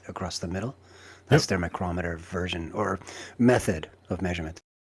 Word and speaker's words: micrometer: So these are all also micrometers as well, or micro screws. All right. Have I been saying micrometer like an idiot, or is it micrometer? No, it's No, micrometer. micrometer is correct.